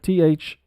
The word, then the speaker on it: thorough: But as we said, THOROUGH, thorough.